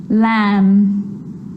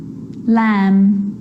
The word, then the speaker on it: lamb: letter M Clym crumb lamb thumb dumb and plumber so practice them with me I'm not pronouncing the B I'm just pronouncing the M consonant sound Clym crumb lamb some dumb plumber and